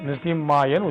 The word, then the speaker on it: நரசிம்மாய: ஐம் ரௌம் நமோ நரசிம்மாய இதுல நானு எழுதி இருக்கு பாருங்க ஆனா இன்னு தான் உச்சரிப்பு போடணும் நரசிம்மாயன்னு உச்சரிக்கணும் நரசிம்மாய வஜ்ர தம்ஸ்ராய இதுல இத்து